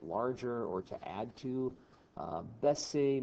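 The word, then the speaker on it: baisser: or to add to bessie means to lower it's like the opposite of ogmonte if you mispronounce that as busy it can be a bad word so let's not do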